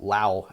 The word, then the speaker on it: Lhaw: Amon Lhaw, over on, well, Lhaw actually is how it should be pronounced, on the other side of the Anduin.